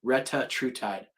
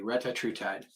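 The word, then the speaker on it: retatrutide: Ru t d e Retta true tide uh Katie said it correctly Retta true tide yep ratra Tide Is How They pronounce it what's in The Skinny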